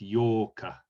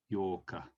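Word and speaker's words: 八日: And then 8, this is like the double of 4, which was Yokka. So we pronounce this Yorka, Yorka.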